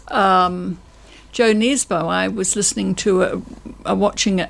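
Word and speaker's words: Jo Nesbø: Whereas I've got Knife by Joe Desbo, and it's Joe Nesbo.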